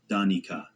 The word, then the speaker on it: Danica: That weekend, my best friend Danica, and yeah, her name's pronounced Danika, not the way most people read it, invited me out.